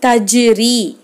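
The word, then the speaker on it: تجري: அசைச்சு உச்சரிக்கிறது எப்படி உச்சரிக்கணும்னா, தஜ்ரி தஜ் அப்படின்னு நிறுத்தாமல் தஜ் தஜ் அப்படின்னு ஓதணும். அப்போ தஜ்ரி தஜ்ரி அப்படின்னு ஓதணும். இப்போ அடுத்த எழுத்தை பாருங்கள், தக்குவா.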